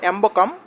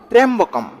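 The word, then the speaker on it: ত্র্যম্বকম্: তাও ওম ত্রেম্বকং দেখবেন উচ্চারণটা শুনতে লাগে হয়তো এম্বকম সেটা নয়। ত্রম্বকম ওম ত্রম্বকম যাজামাহে সুগন্ধিং পুষ্টি বার্ধনাম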